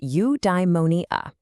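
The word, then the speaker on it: eudaimonia: Okay, I've got a new word for you. Udimmonia. It's pronounced udeimmonia.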